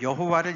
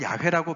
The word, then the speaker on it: 야훼: 야훼 명령과 직결되는 것이었습니다 제가 왜 여호와를 야훼라고 표현을 할까 제가 이제 출애굽기 말씀할 때는 잘 설명을 드렸는데 그 여호와라는 그 단어가 사실은 합성어예요 그게 히브리 자음으로 yhwh